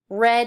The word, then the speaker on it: read: up the sign and read it exactly it's spelt exactly the same but you pronounce it differently why just because it's